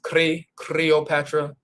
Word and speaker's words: Cleopatra: the Greeks invaded, they had letter L's in their name like Cleopatra. If you look at the way it's spelled in the medutu, when you get to the L, the med or hieroglyph that they use for the letter L is the R symbol. So it's creopatra, creopatra, instead of cleopatra, they would say creopatra.